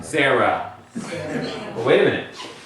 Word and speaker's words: Sarah: It has a hey at the end. Why is this not a closed syllable here? Here's one open one. Why is this not one also closed to where we say Sarah? Because this is a vowel indicator because it's in the list here.